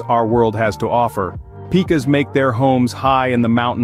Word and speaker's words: pika: The Pika, pronounced Pika, is a relative of the rabbit, though you might mistake it for a rodent at first glance.